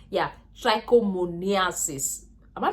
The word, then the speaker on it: trichomoniasis: B we have genital warts and we have trichomonomiasis yeah trichomoniasis am I pronouncing this to his way yes just know